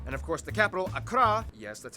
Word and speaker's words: Accra: And of course the capital, Accra, yes, that's how you pronounce it, Accra, located in the southeast along the coast.